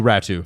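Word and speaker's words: Räty: their names are Sasson, Ratty, and Amon. I believe it's Ratu. Oh, Ratu. Because Finns like to be like Atu Ratu. That's how you say it.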